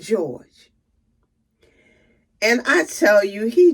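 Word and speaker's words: JohGe: his name is spelled j-o-h capital g e pronounced George and I tell you he just did my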